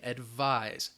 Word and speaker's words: advise: Advise, that S is going to sound like a Z, advise.